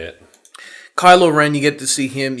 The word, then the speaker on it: Kylo Ren: villain Cole Wren I think his name is kilo kilo kilo kylo kylo Ren yeah got it eventually now I know how to say it kylo Ren you get to see him you get to